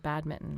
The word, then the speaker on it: badminton: We always said badminton. We never pronounced the N for reasons I'll never understand.